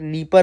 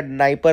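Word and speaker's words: Dnieper: रही है, नाइपर river, D से स्टार्ट होता है, लेकिन डी आई थिंक इसमें वो रहेगा, साइलेंट रहेगा, तो आप इसको याद रख सकते हैं, नीपर रिवर या नाइपर रिवर भी आप बोल सकते हैं, ठीक है ना।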